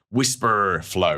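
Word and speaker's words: Wispr Flow: It's called Whisper Flow and it's spelled W I PR Flow. Whisper Flow if you like.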